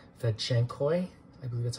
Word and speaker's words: fedtschenkoi: These are succulents, Kalanchoe, fedtschenkoi, I believe that's how you say it.